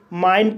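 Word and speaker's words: mine: एम को मा पढ़ा जाएगा, आई को आई पढ़ा जाएगा, एन को ना पढ़ा जाएगा, ई साइलेंट रहेगा। इस तरह से माइन पढ़ा जाएगा और माइन मीन्स मेरा या मेरी।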